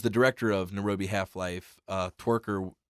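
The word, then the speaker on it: Tykwer: Twiker. How do you say it? Twiker.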